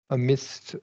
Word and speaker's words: amidst: midst, a, amidst. I don't know how to pronounce that. And the Amidst, A functions, the first A, but the only A functions as a schwa.